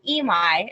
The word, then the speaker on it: Emai: Emai is the way you pronounce it.